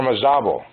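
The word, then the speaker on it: Ormazabal: a Spanish company called or maabo or maabo acent on the third syllable thank you this is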